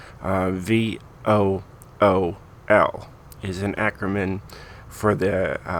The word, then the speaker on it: Vuhl: Just to make sure, because a lot of you guys might call it the Vuhl or something else, but it is pronounced Vuhl. VOOL is an acronym for the grammatically questionable vehicles of ultra, lightweight, and high performance.